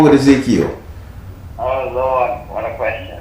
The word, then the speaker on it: Ezekiel: how did she help easy cow it's ezekiel yeah because she just said she told me she said his name is ezekiel she corrected me because evidently